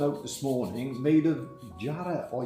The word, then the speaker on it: jarrah: made of jarrah or yarra. Jarrah. Which came in... Jarrah, the Australians always correct you. Yeah. I don't know why you call it Yarra. Well, because we don't pronounce the J in it, I think.